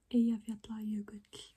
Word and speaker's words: Eyjafjallajökull: So the first Icelandic word that's hard to pronounce is the famous glacier, which is Eyjafjallajökull. Eyjafjallajökull, which is written as Eyjafjallajökull.